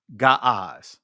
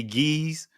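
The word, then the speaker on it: Ge'ez: You know the uh ancient Ethiopian language is again ga that's how you properly pronounce it. Some would say geese or gz, but the actual pronunciation is ga.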